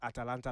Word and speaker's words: Atalanta: And I'm using it based on what we saw at Atalanta last season.